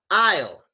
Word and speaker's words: aisle: pronounced I and a second word is also pronounced Isle and if you don't